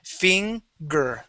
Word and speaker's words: finger: All right, now this G is the same as in Spanish, okay? Even if there's an E after it, we still pronounce that like a G, okay? It does not become a K sound, okay?